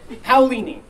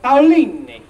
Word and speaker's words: Paolini: my not last name hoini although if you're in Italy it's a little more like Pini you know funnily enough